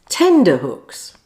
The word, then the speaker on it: tenterhooks: Tenterhooks. Okay, the clock's ticking. Clue, it's not soft and nothing to do with hooks.